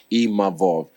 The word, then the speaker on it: Imavov: And I'm grateful to even Nasruddin Imavov, sorry, I learned how to say his name properly, Imavov, because, you know, we shot a fair one, he beat me.